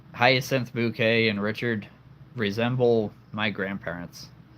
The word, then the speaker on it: Bucket: It's bouquet. B U C K E T, but it's spelled bucket. It's bouquet.